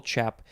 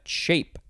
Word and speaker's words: chape: okay next we have shape or you could also just pronounce it chap but there's an e at the end so i sell i shall say shape noun from the 14th